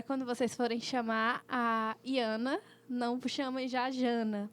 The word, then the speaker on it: Jaana: É Jana, que escreve com J e fala Iana.